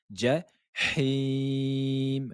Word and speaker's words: الجحيم: Ja, ja, la lettre jim. Ne dites pas ja, ja, mais c'est comme s'il y avait un D et un J. Ja, ja, ja, hi, him. Ja, him. La lettre H, ne dites pas jahim ou jahim.